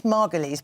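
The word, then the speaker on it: Margolyes: uprising when she's Miriam she's Margulies by the way hate to be pedantic but that is how she pronounces her name when Miriam magalies and Joe Brown there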